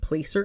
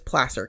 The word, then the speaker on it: Placer: talking about this and everybody calls it Placer County because it's spelled PL L A C E R, but I'm from California so you get the benefit of my knowledge on these cases. It is Placer County.